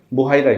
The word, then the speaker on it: বুহাইরা: বুহাইরা নামে পরিচিত ছিলেন বা কেউ বাহিরা বলেছেন বুহাইরাই হবে উচ্চারণটা তো উনি সাধারণত উনার গির্জা